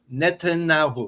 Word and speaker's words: Netanyahu: BB is easier to pronounce for me. Netanyahu. Netanyahu.